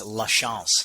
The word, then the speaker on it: LaChance: Well, since you're in Europe, it's LaChance. LaChance. Okay. Okay. Is that But if you're in the French? States, it's LaChance. It is French, yes.